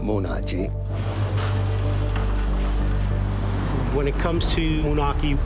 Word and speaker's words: Moonachie: Everybody pronounces the name wrong. It's Moonachie, it's not Moonachie.